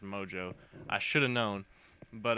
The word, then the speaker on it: Mongeau: __ ] mess of a name apparently is pronounced Mojo I should have known but uh she's claiming